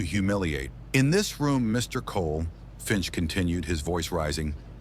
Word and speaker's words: Cole: He deliberately mispronounced the name, making it sound like Colas. Elias ignored the slight, his posture a study in calm. My apologies, Your Honor. The name is Cole.